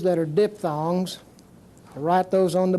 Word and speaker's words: diphthong: this and we'll talk about what we call diphthongs dip thongs a diphthong is where two vowels come so